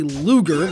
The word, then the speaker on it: Ludger: Instead, we open, in combat, in the shoes of some schmo named Ludger. Except the D is silent, so it's actually Luger, like the gun, because, well, just wait and see.